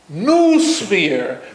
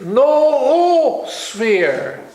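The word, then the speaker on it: noosphere: the second Oh is because if you didn't put it on you a lot of english-speaking persons would pronounce it new spear but it's not loose weird it's no sphere you see so that's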